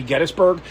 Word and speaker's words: Gettysburg: Getty Oil, I guess, is why people call it Gettysburg, but it's actually Gettysburg, named after a man named Gettys who opened